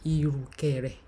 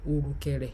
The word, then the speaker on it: irukere: It's in mainstream Yoruba we say irukere, irukere. But in dialect we say urukere.